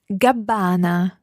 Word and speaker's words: Gabbana: And notice there, the Gabbana has got a double B but a single N. Listen to the pronunciation of Gabbana again. Gabbana.